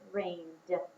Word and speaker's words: rained: I hear d sound at the end of rained.